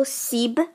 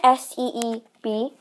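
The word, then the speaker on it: سیب: And so the next one is apples, and we call apple seeb. Kind of imagine S-E-E-B, but that's not how it's spelled, but just kind of imagine it like that.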